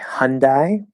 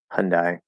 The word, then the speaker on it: Hyundai: some people say hyundai so they actually changed the i to a um the way i always naturally said it the way that i heard it growing up was mostly hyundai yeah hyundai so there you go